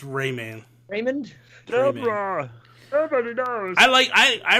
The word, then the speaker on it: Rayman: Is it Raymond? Rayman? It's Rayman.